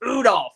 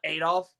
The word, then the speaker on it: Udolph: It's pronounced Udolph, not Adolph.